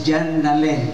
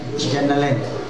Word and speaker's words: Jonalyn: Ang pag-pronounce day, yung ngalan is Jonalyn. Jonalyn.